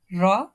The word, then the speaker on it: ر: Now the makhraj of ra, ar, ra, ri, ru, ar, ra, ri, ru. You may notice while pronouncing ra, this little vibration, this is the part of the characteristic of the ra.